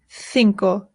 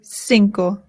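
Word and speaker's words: cinco: In Spain they say thinko. In Latin America they say sinkco.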